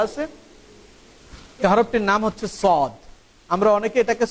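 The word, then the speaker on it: صاد: সর্বশেষ যে হরফটি এখানে দেওয়া আছে, এই হরফটির নাম হচ্ছে সদ। আমরা অনেকে এটাকে সোয়াদ বলি, এটার নাম কিন্তু সোয়াদ না, এটার নাম হচ্ছে সদ।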